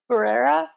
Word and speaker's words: Herrera: how do you say your last name herrera herrera he could play a good elphaba i think